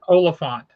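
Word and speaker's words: Olyphant: his name wrong because I always say his name wrong. Um Timothy Oplant Oplant, how you say his name? Olafant.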